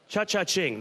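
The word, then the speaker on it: Cha Ching: early start to the pick six here today as we're look at uh looking at Chuch-ing Cha- Ching. That's the correct pronunciation.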